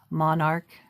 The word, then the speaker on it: monarch: I think so, and the H is silent. M-O-N-A-R-C-H, I believe, is monarch. And it's like an arc.